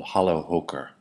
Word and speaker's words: Challerhocker: walter ross produces this cheese called halo hooker that's the better pronunciation of this holler hooker and let's take a